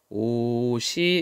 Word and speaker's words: 옷이: 자, 뒤에 뜻이 없는 조사가 왔어요. 요럴 때는 연음이 돼요. 그래서 발음이 어떻게 돼? 옷이 이렇게 되죠.